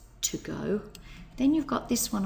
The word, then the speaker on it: 午: Midday okay here's the character for Midday it's pronounced go and then we add the character for behind